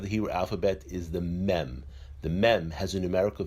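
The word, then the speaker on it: מ: The next letter of the Hebrew alphabet is the mem. The mem has a numerical value of 40. The mem is pronounced as a m.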